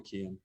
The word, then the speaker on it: Cian: Thank you, and please everybody call me Cian. Please. Cian, good. Well, I'm glad you pronounced it for the Americans on board.